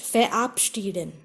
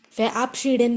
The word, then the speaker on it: verabschieden: In such prefixes, R is not pronounced. Versteckt. Versteckt means hidden. Verbinden means to connect, to join. Sich verabschieden. Verabschieden means to take leave from someone, to say bye-bye.